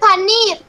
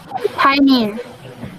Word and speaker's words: pioneer: That is not paneer. This is an English word. What is this word? How do you pronounce it? Pioneer. Pioneer. Okay? Pioneer. It has to be clear where the stress is when you pronounce.